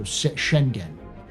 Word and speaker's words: Schengen: Schengen. So like, she and Jen again. It's like she in gen, or is it Shen gen? G, like hard G go. So Schengen.